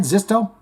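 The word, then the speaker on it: Xisto: Something that is clear priority to Andreas Kisser, Derek Green, and Paulo Zisto. Is that how you say it? Zisto? It's an X. Xi, X-I-Z-I, Zisto.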